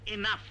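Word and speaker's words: enough: এ লাইনে দেখো প্রথম রয়েছে ই এন ও ইউ জি এইচ, উচ্চারণ এনাফ, জিএইচ উচ্চারিত হলো না।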